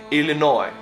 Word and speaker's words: Illinois: the names forgive me Illinois silence would say easily noise like s we pronounce this but you don't say it French also don't say the s in the end I think maybe it